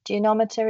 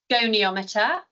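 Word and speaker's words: goniometer: And there there's one more question is presumably apologies for pronunciation. Presumably a geometer is required. Gonometer.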